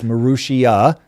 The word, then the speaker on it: Marussia: And I think, by the way, we keep mispronouncing it. It's Marussia, if I remember correctly.